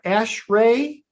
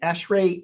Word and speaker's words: ASHRAE: exist and then there's this term uh ashray I'm pronouncing that right ashray energy audits so American